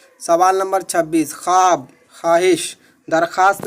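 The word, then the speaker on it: خواب: जैसे ख्वाब, तो वाव का प्रोनाउंसिएशन नहीं हो रहा, वाव का तलफ़ुज़ नहीं हो रहा, वाव नहीं पढ़ा जा रहा, तो वैसे वाव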